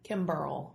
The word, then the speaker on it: Kimberl: Kimberl. Kimberl. Mm-hmm. Kimberl. Like a barrel of bourbon, but Kim in front of it, right?